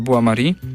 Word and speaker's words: Bois-Maury: Pisze się Boys myślnik Maury. Nie zwierz tylko właśnie z ze spinoffu, czyli z Buari i sami zwrócili uwagę, sami powinniście zobaczyć i